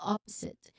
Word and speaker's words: opposite: So the pronunciation it begins with the stress of the first syllable of that's the first the syllable stress is on the first syllable. Opposite. So there's a short O sound as in hot. Opposite. And then um there is a buzzing sound here.